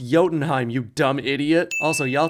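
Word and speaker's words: Jotunheim: I await your arrival in Jotenheim. It's pronounced Yotenheim, you dumb idiot.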